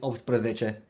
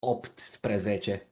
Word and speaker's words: optsprezece: Yeah, well, in rapid speech, if I were to pronounce it, I just call it opsprezece. So I'll get rid of the T somehow, opsprezece. But if you want to pronounce it with nice diction and everything, it's optsprezece.